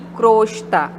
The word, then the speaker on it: crosta: Mas o correto é omelete, assim como alcova e crosta. Crosta é o O fechado, né?